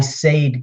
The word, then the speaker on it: Sayd: us in her name is like someone with bad grammar I sade go out to the